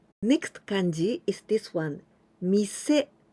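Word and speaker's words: 店: kanji is this one mise shop store and sometimes we can pronounce ten here we use the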